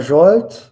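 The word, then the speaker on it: Zsolt: Y el otro es Jolt.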